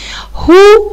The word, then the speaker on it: who: who من، هنا ال w silent مش هنطق.